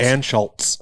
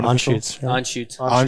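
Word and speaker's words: Anschütz: one says it right some people put the letter l in it i've done that before i used to call it anne schultz yeah that's a pennsylvania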